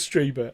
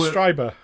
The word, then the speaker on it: Strieber: I think it was Strieber. I think you said to me it was Strieber because it's German, isn't it? I'm just following German pronunciation rules. I-E is pronounced E.